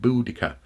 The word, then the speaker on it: Boudica: he's almost emphasizing the conus of the word boodikka boodikka and therefore it's it's it's highly likely